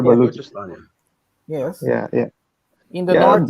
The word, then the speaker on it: Balochistan: types of terrorism in its country, being it Balughistan. Can you help me? I'm pronouncing Balochistan. Yeah, it's called Balochistan.